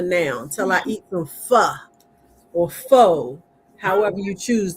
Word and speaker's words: pho: And that's going to be it for now, until I eat some pho or pho, however you choose to pronounce it. It's pho, but go ahead.